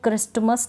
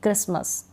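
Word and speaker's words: Christmas: ठीक है, इसको क्रिस्टमस नहीं पढ़ूंगी, क्रिसमस।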